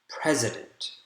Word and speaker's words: president: stress so for example in the word president there are three syllables donald trump is president of the united states president the first syllable is the strongest and that's why you